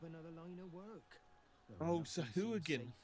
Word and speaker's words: Sahuagin: If they're right about the Swahagan, I may take up another line of work. Oh, Sahuagin. Oh, you're not pronouncing it right, but Sahuagin are cool.